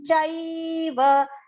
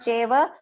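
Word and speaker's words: चैव: Swadhyayabhyasanaim chaiva. Chaiva, not cheva.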